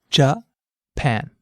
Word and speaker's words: Japan: Try saying the word Japan aloud. Japan. Notice how the pan part of the word stands out. That's because this syllable is stressed.